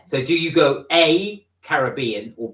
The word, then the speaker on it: Caribbean: or American so I Caribbean is the way that you pronounce it I always say Caribbean I always say Caribbean yeah it's Caribbean because we're from the UK but it's to the Caribbean